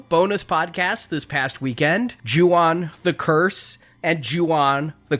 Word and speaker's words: Ju-on: I learned a lot about The Grudge and The Curse and Ju-on and all of that, including how to pronounce Ju-on and not Yuan.